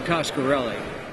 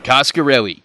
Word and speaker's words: Coscarelli: mysterious I never even knew if I was pronouncing his name right is it Don koskarelli or kosher really John cascarelli cascarelli got it I knew reggie'd be a great